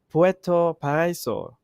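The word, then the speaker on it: Puerto Paraíso: i pronounce it right puerto pariso is that correct yeah i see baby preto perezo yep you're you're absolutely correct here but seeing how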